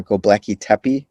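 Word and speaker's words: Göbekli Tepe: modern day turkey uh gobleki tepi i believe is how you pronounce it have you heard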